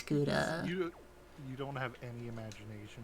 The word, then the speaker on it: gouda: cheese is something delicious every time you say gawda it sounds like chowder chowder it was most definitely pronounced no it's gouda you don't have any